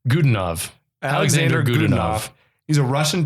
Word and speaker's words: Godunov: Yeah, the actor, how do you pronounce his name? Godunov.